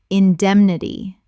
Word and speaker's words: indemnity: indemnity Four syllables with the stress on the second.